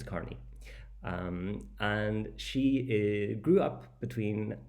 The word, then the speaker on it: Carney: Then number 4, we have Isabella Carney, which I would pronounce Kearney, but apparently it's Carney.